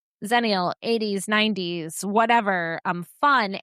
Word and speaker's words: Xennial: You could use the word zenial spelled with an X.